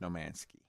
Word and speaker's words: No Man's Sky: think was possible i don't want to make you feel bad but it's pronounced nomansky all right anybody got